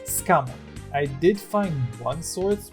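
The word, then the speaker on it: Sukamon: at the end of a sentence so it's pronounced scammer i did find one source which claims it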